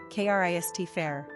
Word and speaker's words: Cristopher: Pronunciation, Krist fair.